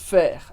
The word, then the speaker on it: faire: E a mesma coisa acontece com o E do final de faire, a gente pronuncia o R, mas não o E.